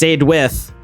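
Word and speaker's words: Saedwydd: And I know the double D makes the TH for Welsh, so I stuck with that.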